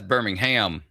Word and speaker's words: Birmingham: Birmingham, maybe it's Birmingham, Alabama. And that's Birmingham. Emphasis on the ham.